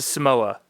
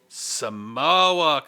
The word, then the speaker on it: Suhmowa: It's a Samoa. Samoa. Oh, Girl Scout. All right, got it. So, but it's spelled SUHMOWA, and then cookie and beer.